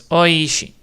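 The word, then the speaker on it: おいしい: So that's how you say it out loud because it's so it's so oi because there's a long vow one long vow too. So it's oishi.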